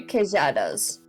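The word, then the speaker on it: queijadas: Yeah, it's supposed to be kadas. Ah, okay. Kadas, which is the Brazilian Portuguese way of saying it.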